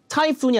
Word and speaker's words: typhoon: typhoon이 아니라 typhoon, 뒤에 강세를 줘야 이해를 합니다.